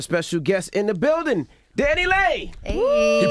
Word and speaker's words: DaniLeigh: We got a special guest in the building, DaniLeigh. Hey. You pronounced it right?